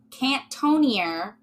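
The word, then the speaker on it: Cantonnier: want to say okay I'm gonna pronounce it the very Butchery American way cantonia but it's spelled c-a-n-t-o-n-n-i-e-r which is yeah like anything with ER yeah yeah also from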